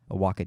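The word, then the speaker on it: Oaxaca: heard that from it's in a movie well iwaka is a town in Mexico um I think there's a cheese too a Waka cheese but it's oh I've heard this saying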